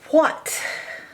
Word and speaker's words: what: We hear that same digraph, WH in the beginning. T. Now, this is another strange one because you would think it's O, but it's not. It's A.